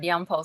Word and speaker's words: Yanpolskyi: And by the way, did I pronounce the last name correctly? Yes, you did. Yanpolskyi.